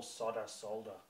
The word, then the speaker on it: solder: How come you call solder? Solder? It's not... Oh my solder? God. Who the hell calls it solder? Americans. Yeah, no, they pronounce it differently. Solder. Or it's like a different, you know, intonation.